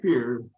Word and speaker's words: Fuhrer: And as we wrap up, I'd just like to say, for the listeners, Jay Fuhrer, you pronounce his last name Fuhrer, but it's spelled Fuhrer.